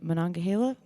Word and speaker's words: Monongahela: I did this sort of road trip that I just kind of wandered around the Monongahela.